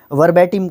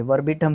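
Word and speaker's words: verbatim: In exactly the same words as were used originally, उसको वर्बैटिम कहेंगे, वर्बिटम नहीं वर्बैटिम।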